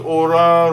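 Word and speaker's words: אורה: What Orah rhymes with? Did anything? Torah.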